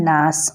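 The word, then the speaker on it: الناس: দেখেন এখানে লেখা রয়েছে নুন নুন আলিফ জবর নাসিন জের সি অর্থাৎ নাসি উচ্চারণ কি হবে অবশ্যই আপনারা জানেন যে নাসি হবে তো এখানে আমি নাস কেন পড়েছি একটা প্রশ্ন আসতে পারে দেখেন আমি এখানে যে অফকো করেছি অর্থাৎ আমি স্টপ করেছি থেমেছি ওই থামার জন্য আপনি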